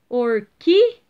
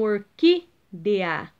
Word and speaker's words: orquídea: achar é a antepenúltima olha aqui orquídea de ah então é a antepenúltima terceira do final para o começo então orquídea entenderam galera então vocês